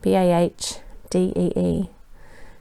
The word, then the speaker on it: La Badie: article and she said her name should be pronounced La Badie, so Lahbadee. She disliked it when people mispronounced it by saying La Badie, as it made her think of a coroner's inquest.